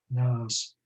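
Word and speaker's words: Næss: norwegian philosopher arne i think you say his name nas arnaz in talking about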